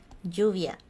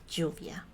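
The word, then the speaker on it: lluvia: that word for example we have the word Juvia which mean means rain and in this case the L would sound like this this word this is this letter Juvia but uh and notas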